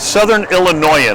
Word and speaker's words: Southern Illinoisan: Southern Illinoisan, right? Did I say it right? The Yeah, you got it.